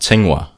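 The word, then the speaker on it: Tsinghua: you say um it's it's pronounced ting wa ting one university yeah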